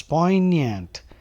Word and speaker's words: poignant: so please be careful the g is silent look at the pronunciation it's poignant the G is not there it is silent a poignant song A